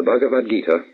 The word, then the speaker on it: Bhagavad Gita: of all the spiritual classics of India, the Bhagavad Gita, or Bhagavad the Lord Gita Song, the Song of the Lord. It is spelled B-H-A-G-A-V-A-D, Bhagavad, Gita, G-I-T-A.